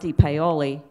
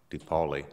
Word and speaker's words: DePaoli: Then he goes down slowly, and my car was already on North DePaoli, and this big truck is coming up.